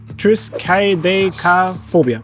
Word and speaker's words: Triskaidekaphobia: that 3 mana plus 1 more to cast Triskaidekaphobia. Nice. Nailed it. It's an enchantment. That's exactly how it's pronounced, yes.